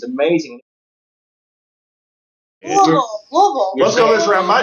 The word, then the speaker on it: Louisville: It's two syllables. If you're a native, Louisville.